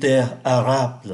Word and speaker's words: arable: Và chúng ta để ý ở đây có ký tự L và phát âm là une terre arable thay vì une terre.